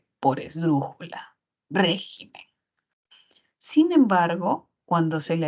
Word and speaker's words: régimen: re eso no no existe régimen y regimen no existe solo existe régimen mientras que en el